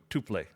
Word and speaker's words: tuple: the way is it tuple or tuple like what is it okay so as far as or tuplex yeah as far as like english words go both are correct those are both legit pronunciations but how do you